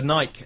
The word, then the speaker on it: Nike: no it's not that Americans say Nike and it's an American brand so it's Nike thank you course young